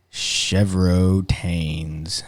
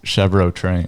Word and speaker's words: Chevrotains: friends to the south, the Chincoteague Island Chevrotains. There you go. It's the first time you've gotten the I name just right. realized I've been pronouncing it wrong that entire time. I thought you guys were joking at first, like you and Logan, and I'm like, I think they actually think it's Chevrolet Trains.